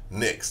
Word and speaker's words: Nix: a message and said his last name is pronounced knicks jamie nix had gone